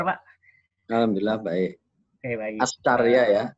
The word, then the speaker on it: Askarya: Askarya ya bacanya.